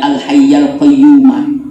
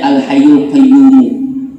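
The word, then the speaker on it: الحيَّ القيومَ: Itu bacanya al hayyal qayyuma. Biasanya orang membaca al hayyul qayyum. Ya, tapi sebagaimana dalam riwayat ini dan memang dibenarkan di dalam nahwu dan sorofnya, itu ini dibaca al hayyal qayyumah, bukan al hayyul qayyum.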